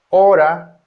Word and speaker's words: hora: Letter H, although writing letter H generally doesn't pronounce as in huevo, huevo, huevo. Huevo means egg. Hora. Hora. Hora. Hora means hour.